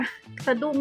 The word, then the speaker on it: สะดุ้ง: คิด ว่า คิด ว่า ชื่อ แบรนด์ น่า จะ อ่าน ว่า สะดุ้ง นะ สะดุ้ง ที่ แปล ว่า แบบ